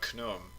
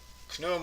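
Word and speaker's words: Khnum: patron of that district it was the god knum and usually that's spelled k-h-n-u-m and he's usually shown with the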